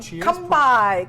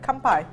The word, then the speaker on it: kanpai: or like hawaiian um kampai kanpai sorry kanpai it's good to move